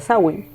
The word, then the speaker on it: Samhain: O Samhain, como lo queremos llamar más a nuestro idioma español, pero realmente se pronuncia Samhain, porque viene de los ingleses, ¿ok?